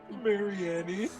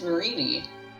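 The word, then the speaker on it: Marnie: Marianne. And Pronounce it like that? It's Marini.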